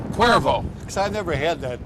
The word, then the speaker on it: Cuervo: by the uh jose cavero how do you pronounce that name again cuervo cuervo because i never had that adult beverage before